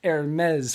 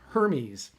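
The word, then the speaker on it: Hermès: louis vuitton chanel gucci and hermes that is pronounced hermes for anybody who doesn't know that i had to work on that all day today because it looks like it's pronounced hermes cosine with them or cons uh consigned with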